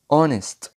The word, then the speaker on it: honest: برضو خد بالك ان حرف ال H مش بننطقه في بداية بعض الكلمات زي كلمة our، honest.